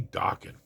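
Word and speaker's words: Dokken: One of the others, like if there was a big four, I think one of the others would be Dawan. Uh they rhyme with rocking.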